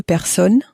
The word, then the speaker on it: personnes: Deux personnes. Again, you'll notice that even though there's two of them, we don't make the sound of an S at the end.